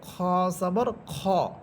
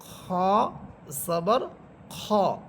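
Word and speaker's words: خَ: এখানে খ জবর খা পড়া যাবে না, খ জবর খ পড়তে হবে। অনেকেই হয়তো আগে পড়েছেন বা ছোটোবেলায় পড়ছেন যে খ জবর খা পড়ছেন, এটা ভুল উচ্চারণ। এখানে হবে খ জবর খ।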